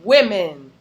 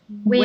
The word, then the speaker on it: women: Women. Women, women, like an I.